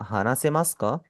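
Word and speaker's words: 話せますか: मैंने आपको पहले भी बताया था कि मास के अंदर जब भी आपका उ आता है वो हमेशा साइलेंट होगा। ऐसेसे ट्रीट करेंगे कि वो वहां पे है ही नहीं।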